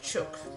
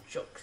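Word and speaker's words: jook: And you might find some Cantonese-owned restaurant call it chook, J-O-O-K, chook, because that's a Cantonese pronunciation of it.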